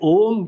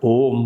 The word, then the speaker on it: ओम: ओम बोलते हैं ना तो शुरुआत में अ में बहुत ऊंची आवाज आती स्पष्ट आवाज आती उ में थोड़ी मंद पड़ती है म बोलते ही धीमे धीमे मुख ही बंद होने लगता है और यह कारण भूत चीज जो है उसमें लीन हो जाती है यह ओम का उच्चारण